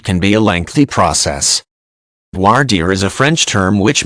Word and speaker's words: voir dire: publicized trials it can be a lengthy process voir dire is a French term which means to speak truth and it is pronounced more or less as voir dire in some regions people use terms like jury